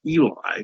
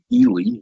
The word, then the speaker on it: Ely: Now, for years I referred to him as Eli, but he described in his own writing that his name, Ely, rhymes with the word freely.